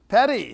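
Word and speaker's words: Paré: Pare. How do you say it? Pare. Pare. Now, they have that little mark over the E? Accent aigu.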